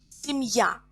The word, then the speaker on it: семья: Семья, a family. Семья. Семья has ya ending, so to make plural, we write e instead of ya. Семьи. Семьи. Семья. Я is stressed in singular.